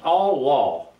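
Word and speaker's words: עלה: The Hebrew for ascend is Allah, and it's pronounced Allah, A-W-L-A-W, that's the way it's pronounced, has various meanings figuratively and literally.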